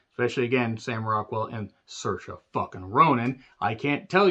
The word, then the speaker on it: Saoirse: But when you have this kind of cast, especially, again, Sam Rockwell and Saoirse fucking Ronan, I can't tell you how long it took me to realize that's how you say her name.